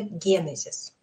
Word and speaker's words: Генезис: выясняю что нет вариантов это даже не творог и творог то есть не Генезис и Генезис а только Генезис конечно не все слова